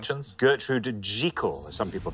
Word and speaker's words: Jekyll: Gertrude Jekyll, as some people pronounce it. Oh, I thought it was Jekyll.